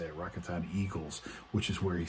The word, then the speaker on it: Rakuten: actually going back to his original team, the Rakuten, I think that's how you say it, Rakuten Eagles, which is where he started his career in Japan.